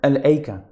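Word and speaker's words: الأيكة: there is a different there is a different way of reciting this portion of the verse that the hamza of is omitted so that's a different way of pronouncing the word al-aika and then he highlights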